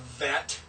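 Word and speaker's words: ב: The transliteration of vet is B with a line under it. That tells you that's pronounced as V.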